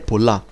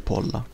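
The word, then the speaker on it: πολλά: pemusa poliutropo nos malapolla, il polla alla fine in realtà è pollà. Però per necessità metrica si legge polla.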